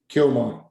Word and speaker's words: Chioma: Chioma. Yeah. Oh, I know how to do that. There's how to pronounce Chioma. Kioma.